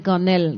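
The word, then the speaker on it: K'nel: non à madame là c'est Canel, d'accord? Donc c'est Canel bien sûr. Ça s'écrit K avec un apostrophe et plus loin NEL.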